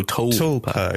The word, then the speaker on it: tulpa: How do you pronounce Tulpa? Topa. Oh, Tulpa. Yeah, like Tulpa, I think. TUL.